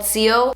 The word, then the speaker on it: XIO: It's called CO. You can follow her page on Instagram. It's CO_ByYlette. I'll have it like here on the screen. It's XIO, but it's pronounced CO.